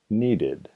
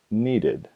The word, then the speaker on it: needed: Los verbos que terminan en los sonidos T o D, T o D, pronuncia el verbo con el sonido id en la terminación. Por ejemplo, need, needed.